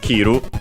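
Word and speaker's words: 切る: Let's check its accent. Accented, so kiru.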